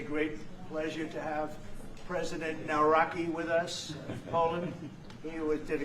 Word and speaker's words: Nawrocki: Gave me a little different pronunciation. I said, I want to get it perfect. Did I get it right? Yeah. Good. Good. Nawrocki.